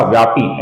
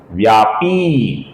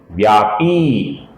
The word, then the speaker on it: व्यापी: इसके आगे व्यापी नाम है दोस्तों, ये पी दीर्घ है। कुछ लोग इसका व्यापी ऐसा ह्रस्व छोटा उच्चारण करते हैं जो कि गलत है। इसका सही उच्चारण है दोस्तों व्यापी, व्यापी।